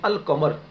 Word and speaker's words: القمر: قمریہ میں سے ہوگا، تو حروف قمری میں اس لام کو ملائیں گے نہیں، لام کا تلفظ کریں گے. جیسے مثال کے طور پر آپ یہی لے لیں القمر.